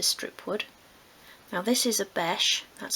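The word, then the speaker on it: obeche: Now this is a beche, that's spelled O-B-E-C-H-E, but for this project you could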